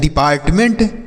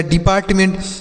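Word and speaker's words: department: तो DE से D पढ़ेंगे, अब PART से पार्ट पढ़ा जाएगा, MENT को मेंट पढ़ेंगे। तो यह लिखा गया है डिपार्टमेंट।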